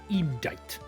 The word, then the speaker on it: indict: Pronounced to indict.